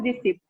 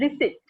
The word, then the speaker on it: receipt: Oh, so usually we pronounce it as receipt. Most of us pronounce it as a receipt. But it is not receipt. It is receipt.